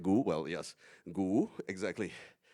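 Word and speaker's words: 牛: Well, yes, gu, exactly. But gu only appears when it's by itself. When you combine, it changes into something else. So when it is in the word for beef, it's not gu ba, no, it's gu ba.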